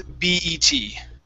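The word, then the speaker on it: BET: Now, usually when we have all capital letters like this, we need to pronounce them individually. So this is B-E-T.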